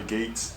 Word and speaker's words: Geats: called Kamen Rider Geeks I hate saying that word it sounds really weird but Carmen Rider Geeks is how you pronounce it so anyway I